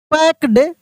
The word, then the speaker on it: packed: पैक्ड, PACKED, यहाँ पे सी का मतलब ही क होता है और के का मतलब ही क होता है, तो यहाँ पे के साइलेंट है, ठीक है।